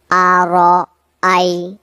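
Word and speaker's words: أرأيت: তাহলে উচ্চারণটা হচ্ছে আর আই আর আই আর আই আর আইতাললা আসসালামু আলাইকুম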